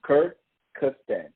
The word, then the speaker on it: Kyrgyzstan: No, just Kyrgyzstan.